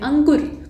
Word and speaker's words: अंकुर: तो देखिए अंकुर जो शब्द होता है ना, इसमें हम लोग दबाव देके बोलते हैं अंकुर, मतलब अगर आपकी नाक बंद कर दी जाए तो आप अंकुर का सही उच्चारण नहीं कर पाएंगे। तो यहाँ चंद्रबिंदु की जगह पे क्या होना चाहिए था, अनुस्वार होना चाहिए था।